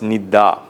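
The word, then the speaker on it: nidda: called nindra Nidra Nidra when it comes to Pi Dr change d r assimilates to D and becomes Nida n i d d a long a Nida or Nidra Nidra in Sanskrit it's Nidra nid bangas bang bangas then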